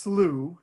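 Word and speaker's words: slough: um thanks so i it's pronounced slew actually despite that funky spelling um and it's really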